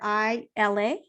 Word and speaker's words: ILA: ILA Optometry. Did I say it correctly? ILA Optometry, you got it.